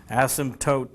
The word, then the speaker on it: asymptote: horizontal asymptote asymptote yes there's a P in there yes it's a silent P asymptote the P doesn't get